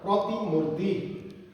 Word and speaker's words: प्रतिमूर्ति: तिन वटा त्यसैगरी अब अर्को शब्द छ लास्टमा प्रतिमूर्ति प्रतिमूर्ति मुर्ति अब यसको पहिले त शुद्ध उच्चारण गरौ मानक उच्चारण गरौ प्रति मुर्ति प्रती